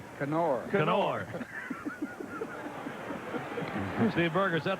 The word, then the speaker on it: Knorr: K-N-O-R-R. Knorr. Knorr. Steve Berger, is that the pronunciation on his name now?